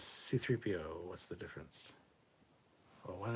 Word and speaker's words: C-3PO: That's his designation because there's a hyphen after the C before the 3, which means there's a C, pause, 3PO, C-3PO. But some people say it C-3PO, C-3PO, C-3P. Like, that's not how it's said in the movie either.